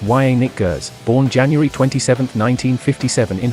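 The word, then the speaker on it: Janick Gers: band to this day yannick roberts pronounced y nick gers born january 27 1957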